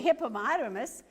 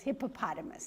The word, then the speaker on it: hippopotamus: taking oh here's a hippomotomous showing her baby how to take a bath yes hippopotamus that's right did i say it wrong yeah okay and this